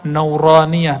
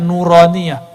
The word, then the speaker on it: nuraniyah: roniyah makanya ribet tuh kita kasih nama nauraniyah itu bacanya nuraniyah huruf-huruf cahaya dan dulu